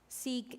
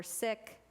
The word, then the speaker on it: Sikh: hate crimes against Muslims and Sikh in the Anglicized version, or Sikh as it is pronounced in the community, soon erupted across the